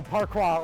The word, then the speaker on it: parkour: This is parkour. Yeah. So, parkour or parkour as it's supposed to be pronounced.